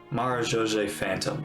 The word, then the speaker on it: Marechaussee Phantom: Marechaussee Phantom, that's how you say it.